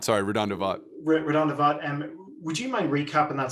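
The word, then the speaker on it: RaDonda Vaught: And Redonda Vought. Sorry, Redonda Vought. Redonda Vaught.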